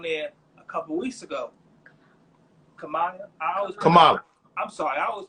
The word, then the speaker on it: Kamala: You know, like my boy, man, he got his own podcast as well, and I seen Camellia was on there a couple weeks ago. Kamala. I'm sorry, I always pronounce her name wrong.